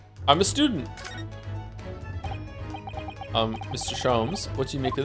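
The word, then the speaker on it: Sholmes: Shoms is pronounced the same as JS. Shoms. Herlock. Shoms.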